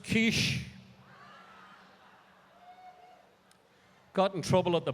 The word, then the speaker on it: quiche: take our order i said i'd like a quickie please well she gave me the dirtiest look